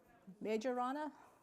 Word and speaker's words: Majorana: So um the latest largest number of cubits is this Microsoft Myeron I don't know how to pronounce it myana majorana is the what they have zero